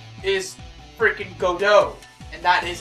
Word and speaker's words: Godot: out of nowhere and his name is freaking Godot and that is how that name is pronounced as well it's not godots because good Lord do not any of you